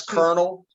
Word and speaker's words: colonel: cautious colonization point out that's colonel and your guess is as good as mine why we pronounce it that way but yeah there's no r in there or anything but yeah